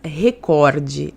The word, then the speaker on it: recorde: É recorde a pronúncia correta, não é recorde. Recorde é uma normativa que a Globo deu há muito tempo atrás para os seus jornalistas para pronunciar recorde, porque se fosse para o paroxítona teria acento, né? E não tem.